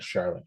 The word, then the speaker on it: Charlotte: you know what about sometimes CH makes a sh sound like an we would think of as an sh sound right Charlotte or sometimes CH is